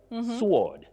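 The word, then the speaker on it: sward: Betty, when we have that literary word, sword, sword, that is S-W-A-R-D, a place of grass.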